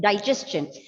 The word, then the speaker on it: digestion: Cha will come at the end. Digestion.